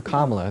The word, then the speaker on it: Kamala: Sure, so you should vote for Kamala. That's how you pronounce her name.